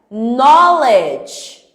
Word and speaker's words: knowledge: knowledge. Knowledge. Conhecimento knowledge. Ok? Então, de novo, quando o K tá tem depois do K tem uma consoante, o meu K não tem som, é uma letra silenciosa.